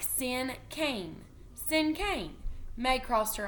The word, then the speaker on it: cinquain: This word is pronounced like sin cane.